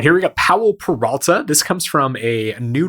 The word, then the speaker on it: Powell Peralta: I was mispronouncing it as Power Peralta a bunch of times, thinking that it was like Jake Peralta, but I think this is actually a person's name, so I'm going to